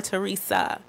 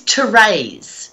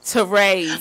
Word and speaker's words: Therese: Is it Therese or Teresa? It is Therese. Therese. Like razor blades.